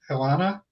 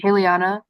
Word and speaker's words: Haliana: And also, while we're at it, Hilana, could you introduce yourself, please? Did I pronounce that correctly? Haliana. It's Haliana.